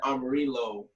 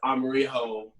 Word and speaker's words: Amarillo: I pronounced it, but first I said Amarillo, but it's Amarijo. It's yellow in Spanish, pretty much.